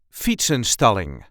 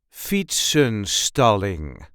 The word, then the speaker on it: fietsenstalling: the way we say fats installing Fon stalling there is a light emphasis on the first syllable Fon stalling feet stalling Fon stalling